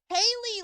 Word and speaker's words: Haley: I don't know how to pronounce it. Haley, like Haley's Comet.